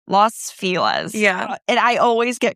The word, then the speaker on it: Los Feliz: It's like Los Feliz. I'm like, but it's spelled Feliz. Nope, Los Feliz.